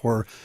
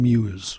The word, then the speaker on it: Hormuz: reopen the Strait of Hormuz. I got an email, by the way, saying I've been saying this wrong, so I'll say it right now. The Strait of Hormuz. Yeah. I was saying Muse, apparently.